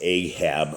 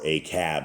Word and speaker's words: Ahab: So right now we are in the years of Ahab, or Acab, as this proper pronunciation is.